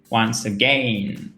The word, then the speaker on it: once again: Il faut bien faire cet accent tonique sur la seconde syllabe.